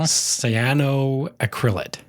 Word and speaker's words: cyanoacrylate: I'm going to have a hard time pronouncing this one. Yeah. Ron's going to make fun of me, but I will. cyanoacrylate, I think.